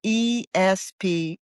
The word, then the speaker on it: Esparolini: It's E as in Edward, S as in Sam, Parolini. So it's Esparolini. Sometimes I mispronounce the P.